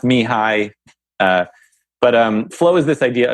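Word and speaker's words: Mihály: I don't know how to spell his name, but his first name is Mihaly. So it's pronounced Mihai.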